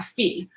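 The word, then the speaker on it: fils: pronounced just f i fee where f-e-e is how that's pronounced so pour yourself a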